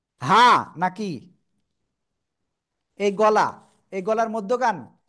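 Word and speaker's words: ح: অক্ষরটা ভালো করে শোনেন গলাটা চেপে হালকা মুখ দিয়ে বাতাস বের করে করে এক আলিফ টেনে উচ্চারণ করতে হবে হা সবাই একসাথে জোরে বলেন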